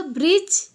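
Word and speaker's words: bridge: एठी देखो ब्रिज, ब्रिज रे कोटा साइलेंट रहूची डी ना, यस ब्रिज रे डी साइलेंट रही जाउची।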